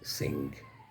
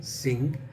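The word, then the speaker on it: Synge: born author and his name is John Millington Singh s-y-n-g-e is pronounced as s-i-n-g's John Billington Singh or J M Singh now John Willington Singh was born in 1871.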